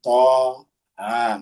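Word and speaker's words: طه: Jadi penulisannya saja yang bersambung tapi bacanya itu harus terpisah. Th ha. Jadi begitu bacanya th ha.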